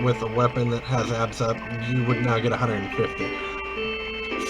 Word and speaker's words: ABS Up: But another good one, if you can find it, is what's called ABS Up. And I sort of pronounced it all as one syllable, so I pronounce it as abs.